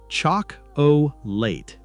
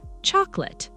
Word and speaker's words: chocolate: Chalk O. Late. That's understandable. But in everyday conversation, many native speakers say chocolate. Chocolate. Exactly. The middle sound becomes much shorter.